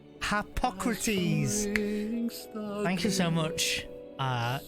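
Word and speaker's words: Harpocrates: I never remember how to say his name Hypocrites hypocrite I might just call him ha of dread in is oh it's h hypocrates thank you so much uh e yes might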